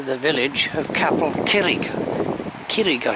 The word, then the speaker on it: Curig: village of capital killik kirika should maybe pronounce not curryg and there's the uh